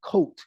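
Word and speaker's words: court: It's spelled C-O-U-R-T. We say coat, C-O-A-T, to the comforting warmth of the radiator heat in Central City.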